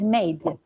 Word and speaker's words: made: It's like there is magic E. They know magic E is silent E, so we sound it as word are 4 letters, but they have 3 sounds.